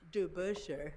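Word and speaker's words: DeBusschere: DeBuscher, thank you.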